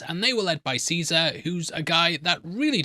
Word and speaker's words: Caesar: It's pronounced Kaisar in the game.